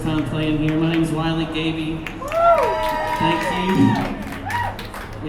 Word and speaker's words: Wiley Gaby: My name's Wy Gaby. Thank you. It is like Smiley Baby if you need to know how to pronounce it or find it on the internet.